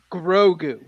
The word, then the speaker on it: Grogu: you pronounce his name grogu it's gonna take some time to get that name down bro like like a growing boy grow right who like like gooey grow goo grow good all right easy